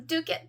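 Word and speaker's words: Dovecot: you will learn um dukit Park is actually spelled Dove coat Park but because the Scottish don't pronounce everything they just shortened it to dukit and it doesn't make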